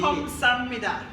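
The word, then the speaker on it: 감사합니다: See, Kamsamnida. it is correct.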